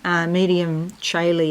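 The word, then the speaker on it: Medium Coeli: Now, I started to talk before about this double grand trine here, because the MC, medium Caeli it's pronounced, I believe, is not a planet.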